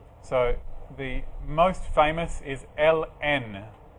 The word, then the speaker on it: ln: the most famous is Ln you may hear it pronounced as Lynn or lon if you say it